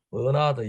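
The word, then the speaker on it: Bernard: 버나드 영어로 발음하면 버나드가 되죠.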